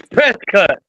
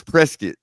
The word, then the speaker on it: Prescott: And he also knows that you pronounced it correctly. Krypto. It's Prescott. It's Prescuit.